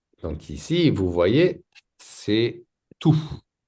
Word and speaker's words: tout: Donc ici, vous voyez c'est tout. Pas de T. Pas de s tout.